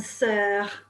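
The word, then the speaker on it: sœurs: s means sister and sir with an s means sisters but remember the s is silent okay right so you're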